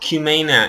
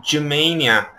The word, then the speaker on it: Cumania: a comment saying that it is not pronounced Cumania, it is pronounced Jumania because it is a Turkish language.